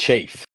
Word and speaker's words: Chafe: Kyle can you let me know how to pronounce that it's a chafe cha okay that's what I thought but I